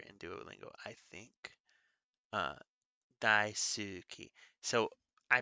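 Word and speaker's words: 大好き: duolingo i think uh daisuki so i pronounce it ski it uses not silent letters but it uses whispered letters so the u is in there even when i say it uh daisuki so that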